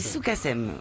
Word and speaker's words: Sukasem: Alors, Soukassem. Ça se dit Soukassem. Voilà, cherchez. Bonjour Vincent. La prononciation.